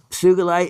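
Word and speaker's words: sugilite: you notice it is sugalite and sugalite is the proper pronunciation the whole industry still is stuck on the soft G Suite but Kenichi Sugi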